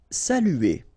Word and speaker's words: saluer: Saluer. Okay, it can be quite difficult at the beginning. U here, saluer, saluer, saluer.